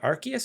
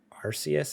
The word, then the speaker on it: Arceus: Okay, that's what I've been saying, but then I heard someone say Arceus, and I was like, that's how we used to say it before we all found out how it was actually pronounced. I used to say Arceus. Then they said Arceus, so it's Arceus.